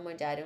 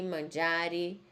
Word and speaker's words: mangiare: Uma observação, vocês estão prestando atenção que eu falo preferire, todos os verbos terminam em E e tem que falar a letra E.